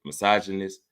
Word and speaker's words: misogynist: That's how you say it, misogynist.